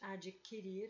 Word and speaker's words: adquirir: o gás triângulo da palavra adquirir o ho-oh não é pronunciado é exatamente adquirir eu não falo adquirir adquirir e na palavra frequente